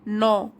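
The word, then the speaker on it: gnaw: बट as time passes, लेकिन जैसे जैसे समय बीतता जाता है, पासिस बीतता जाता है, गिल्ट बिगिंस टू नॉ एट हिम। जी साइलेंट है यहाँ पे, नॉ।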